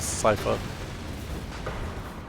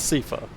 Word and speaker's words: Seifer: way I spell, which is why a lot of people probably say my name is Cipher, but yes, you got a squall. Yeah. So, Cyher was like the antagonist. You call me It's Seifa. Like cat.